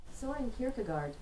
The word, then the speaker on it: Søren Kierkegaard: I did actually find a pronunciation for that. Søren Kierkegaard.